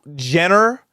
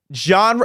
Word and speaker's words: genre: right here cannot read how Jenner genre you literally work in the music industry and you don't know how to say the word genre so this's a new